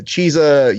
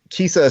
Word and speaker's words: Chiesa: who listens in because there's never been a person who pronounces his name right not even the announcers because you can come the leading power of chisa you could it sounds like Kisa sounds like a [